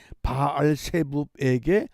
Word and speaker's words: 바알세붑: 아하시아의 심부름꾼을 만나서 저에게 이르기를 이스라엘의 하나님이 없어서 너희가 에그론의 신 바알세붑에게 물으러 가느냐. 히브리식으로 하면 바알세붑 그러지만은 신약에서 헬라식으로 하면 바알세불 이렇게 발음합니다.